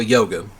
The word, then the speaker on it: Youga: looking at the Bravado Yuga or Yoga. Technically, that's how it's pronounced, but I always thought it was pronounced Yuga, but you know, however you pronounce it.